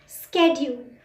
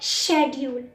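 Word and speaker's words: schedule: हमें हमेशा गलत सिखाया जाता है शेड्यूल, नहीं, CH है, इसकी अलग प्रोनाउंसिएशन होती है क। CH को हम क भी बोलते हैं, तो हम इसको बोलते हैं स्केड्यूल, स्केड्यूल। शेड्यूल नहीं होता, स्केड्यूल।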